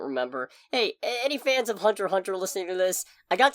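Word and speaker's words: Hunter × Hunter: lot of time in hunterx Hunter as a couple characters oh they're going to come for you apparently that's not how you pronounce it at all wait what I think it's just Hunter Hunter oh really yeah I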